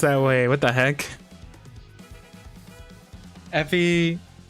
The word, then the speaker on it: Effie: pronounced that way. What the heck? Effie.